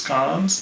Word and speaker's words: Cannes: film festival in cons pronounced it can's earlier it is cons it is indeed cons how what are your